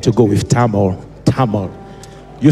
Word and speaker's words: Tamil: out I need to go with time or Tamil you say Tamil that's what you say table